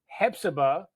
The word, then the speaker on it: Hephzibah: Now, Marc is a career captain with West Columbia, South Carolina Fire Department, and he's a volunteer firefighter with Hephzibah, Georgia Fire Department.